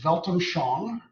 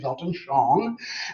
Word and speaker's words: Weltanschauung: The way you pronounce that is Weltanschauung, okay, Weltanschauung.